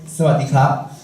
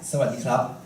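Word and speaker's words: สวัสดีครับ: Everyone put your hand together, bow your head down, and say, "Sawadee krab." Now, let's do it slower by syllable. Say after me. Sa. Wat. Di. Krab. Then connect them together as Sawadee krab.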